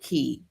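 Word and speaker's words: Kie: We want to welcome in Key out with key and it's key pronounced like the word ke y but spelled K I E.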